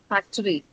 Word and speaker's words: factory: three factory has three a lot of people would end up uh saying it has two because in the Indian English we say factory right so uh the actual if you look and look up the dictionary it is factory right so there's this schwa in between the C and the R sound there.